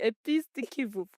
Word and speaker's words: Épices de Kivu: And yeah, all the very best with the Kivu Impact Center and with Épices de Kivu. Did I say it right? Absolutely. Épices de Kivu.